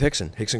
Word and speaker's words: Rickson: I didn't even know who Hickson was or that you pronounced it Hickson.